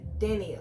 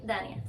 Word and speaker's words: Daniah: Okay, Daniel. Dania. Why do I want to say Daniel? That's just how it's spelled.